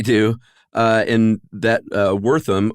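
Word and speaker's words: Wertham: uh in that uh Wortham or vertham as you I think probably correctly pronounced thanks uh he kind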